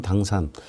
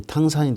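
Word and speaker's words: 唐山: 우리말로는 당산, 중국식 발음으로는 이제 탕산이 되겠습니다.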